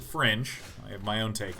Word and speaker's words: Fringe: It is Fring! Some people pronounce it Fringe.